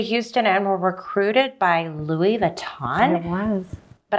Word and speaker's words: Louis Vuitton: Vuitton it was but I say it like a Texan how do you say it Louis Vuitton is Right Louis Vuitton if you're French I think that they're all acceptable and then you left